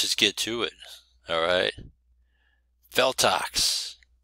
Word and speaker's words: Feltox: Feltox. Not buttocks. I know what you're thinking. Buttocks. Botox. Feltox. Yes, it all rhymes with one another.